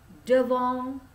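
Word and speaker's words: devant: depan depan gitu kan tulisannya depan dibacanya d'wonk on the farm ya Awas kalau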